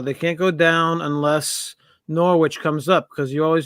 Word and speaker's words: Norwich: No, it's Norwich. Yeah. Norwich, okay. Norwich. All right. A silent W.